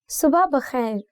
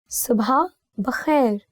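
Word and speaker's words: صبح بخیر: See, there are 2 pronunciations for this word. One is subha bakhair, and you can also say subha bakhair. I don't know which way sounds more natural to you, but I think it's more to do with your tongue, how you roll it. So usually I say it like subha bakhair.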